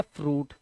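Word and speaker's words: fruit: आपका टी ठीक है यह जो य आई है यह ऊ बन गया तो ये बन गया फ्रूट इसी तरह से यहां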